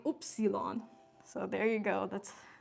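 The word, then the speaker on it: Ypsilon: For those of you who don't know, Germans pronounce the letter Y, oopsilon.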